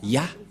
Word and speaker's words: Yah: Moché est très claire ça se prononce ya et comment on va